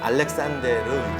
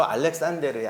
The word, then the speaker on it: 알렉산데르: 그래서 아마 알렉산데르는 스페인식 발음인 것 같아요.